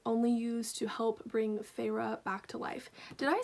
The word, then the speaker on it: Feyre: of color was only used to help bring feyre back to life did i say her name right let me look this up because there's a pronunciation guide i need to be smart and use this feyre i was correct so those two characters of